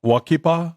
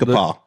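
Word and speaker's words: We-Ko-Pa: was in Phoenix at How do you say it? Walk Walkie Paw? Is that what it was called? We-ka-paw. We-ka-paw, yeah.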